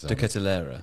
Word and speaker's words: De Ketelaere: De Ketelaere.